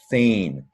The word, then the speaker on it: feign: So feign, you've probably noticed that EI vowel pair makes a long A sound. Feign.